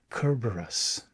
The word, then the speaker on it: Cerberus: What I'm following and I I don't know that I'm pronouncing the Greek correctly, but from what I'm seeing online, it's pronounced something like Kerberus.